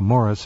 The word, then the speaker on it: Maurice: He pronounces it, as we both know, Morris, but nonetheless, yes, yeah. He's free to pronounce it any way he wants.